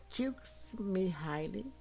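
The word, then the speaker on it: Mihály: Siem pronuncia-se Mihile nasceu em 1934 em Filme, cidade italiana perto da fronteira com a antiga Yugoslávia.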